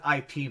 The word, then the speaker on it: Ip Man: Wait, so And this is one, his name actually Ip Man or is it IP Man? no, it's technically it's Whip, like with a W, Oh, Whip Man, but it's pronounced Ip Man. gotcha. Um, as I understand it, or Yip, sorry, Grandmaster